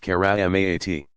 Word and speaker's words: karamat: Pronounced mujizaat, and those effected by friends of God marvels, karamat, pronounced karamaat.